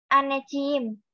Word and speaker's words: anneciğim: Anneler gunung kultu olsun anneciğim. Anneciğim. Anneciğim. Iya, anneciğim. Karena kan C yang nggak ada ekornya itu dibacanya J ya, jadi anneciğim. Artinya apa?